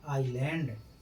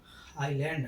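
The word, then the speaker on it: island: जब किसी वर्ड में आई और एल के बीच में एस आए तब एस का उच्चारण नहीं होता है। जैसे आइलैंड इसको आइलैंड।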